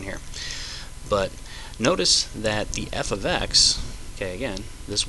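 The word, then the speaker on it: f(x): it okay now this thing is read as f of x okay and still equals X+ 7 okay so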